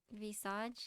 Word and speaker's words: Visage: although Visage, is that how you pronounce it?